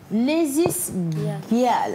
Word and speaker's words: Lazies Gyals: Lazy Girls. Alors, ça s'écrit L-A-Z-I-E-S G-Y-A-L-S. Lazy Girls.